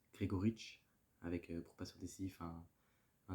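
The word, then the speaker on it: Gregoritsch: Et plusieurs minutes avant qu'un but intervienne, vu qu'un but de Mikhail, attention à la prononciation, Grigoric, avec pour passeur décisif un David Alaba qui était en forme, avec un superbe centre.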